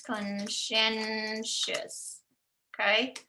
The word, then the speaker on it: conscientious: Conscientious, so it's like conscience, conscientious, okay?